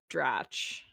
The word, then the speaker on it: Dratch: Who's Rachel Drake married to? I gotta know this. I think it also might be pronounced Dratch. It doesn't really matter.